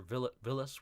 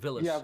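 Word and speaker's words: Villads: of retorts with, well, Captain Villad with a silent or Villas with a silent D. That's what it was. If I'm not mistaken, it's Yeah, Villas, Captain Villas with a silent D.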